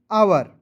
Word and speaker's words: hour: HOUR तो पढ़ेंगे दोस्तों आवर, ठीक है।